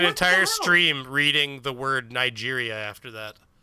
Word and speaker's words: Niger: Well, we pronounce it Niger because we got to stay away from the soft I. The soft G. We got to put a hard just sound on that and an I. Niger with a J.